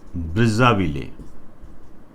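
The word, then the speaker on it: Brazzaville: इसमें जो पहला है, जैसे अफ्रीका से रिलेटेड, अफ्रीका महाद्वीप से संबंधित जो है, ये है ब्रिज़ाविले।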